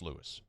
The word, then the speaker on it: Luis: I was told like it's it's spelled Luis but pronounced Lewis. Anyway, he's saying Louis, I could be wrong.